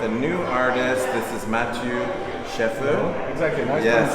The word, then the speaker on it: Matthieu Schaeffer: This is Matthieu Schaeffer. Exactly, nice Yes, pronunciation.